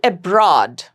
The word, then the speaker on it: abroad: Abroad, aw, you're getting an aw sound. It's a monophthong long sound. You're getting only one sound.